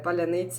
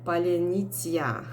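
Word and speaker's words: паляниця: it is very funny because russians they cannot pronounce uh properly this word they also they have you know different language different rules they do not used to say paleonitia they usually say palinitia or something and they cannot say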